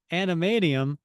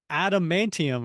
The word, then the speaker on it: adamantium: If it's not animadium, I'll get my shorts because it's adamantium or whatever.